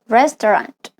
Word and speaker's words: restaurant: In the other example, restaurant, restaurant. Can you hear syllable is missing? The A-U is often unpronounced, but you link directly from the T to the R.